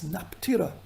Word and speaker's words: Nefertari: There are several letters of Queen Nefertari which are pronounced in Akkadian as Naptira to her girlfriend, the Hittite queen Padahepi.